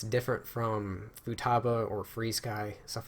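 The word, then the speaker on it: FrSky: makes no sense but it's pronounced free sky ESC we've all used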